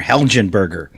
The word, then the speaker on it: Helgenberger: it's Mark helgenberger it's there's a g in there helgenberger I believe it's I believe it's a soft G okay that Mar helgenberger